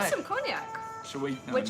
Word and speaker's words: cognac: Why do you pronounce the C at the end of cognac? Because it's a name. Why wouldn't you? Because you usually don't pronounce the last letter in French words.